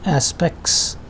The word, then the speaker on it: aspects: this is called illusion this is an example of aspects if you carefully pronounce it but in quick pronunciation it becomes aspects without t the same is the